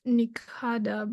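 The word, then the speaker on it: Nishada: And Nisada, elephant. It also can be pronounced Nikada, but again, Ka is not pronounced like the second consonant of the Ka group.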